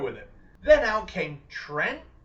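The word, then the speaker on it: Trent?: Then out came Trent. Yes, apparently that is how you say his name now. You have to pronounce the question mark because reasons.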